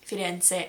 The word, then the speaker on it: Firenze: It's not Firenze, it's Firenze. It's a small thing, but I saw a video of myself saying it wrong the other day and it really irked me. So, something to look out for. It's one of those things that's more or less the same sound, so they don't really teach you when you're learning Italian, "Oh, this actually is a different sound."